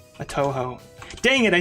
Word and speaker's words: Touhou: back in the day i think i called it tohu it's toe like the toe on your foot hoe like the one in